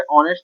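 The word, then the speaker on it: honest: यहाँ पे ऑनेस्ट में एच है, बट साउंड जो है आ से शुरू हो रहा है, इस वजह से जो है इसके साथ एन का प्रयोग हुआ है।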